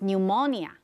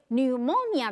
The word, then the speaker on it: pneumonia: Years afterward, the nobleman's son was stricken with pneumonia. 特别注意一下这个 stricken，这个字是从 strike 来的，但是这里要念 stricken，请同学们特别注意一下发音，还有 pneumonia 的发音也要特别注意一下，它 P 在前面是不发音的。英文有很多这样的字，好像 psychology， P-S-Y-C-H-O-L-O-G-Y， psychology，心理学，它前面有个 P，但是它也不发音。